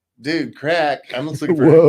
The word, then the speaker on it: craic: And so when I looked it up to reestablish the definition for myself, it spelled it out phonetically. Like, this is how you say CRAIC, KRAK. Crack.